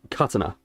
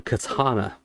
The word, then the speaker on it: katana: Carton and ka it's technically the first syllable is stressed so it's katana right kana but in the west it's a katana it's linguistics it's dafted everyone in the west because the west tends to stress the second uh the second bit of the word so much it it became katana over here but Japanese it was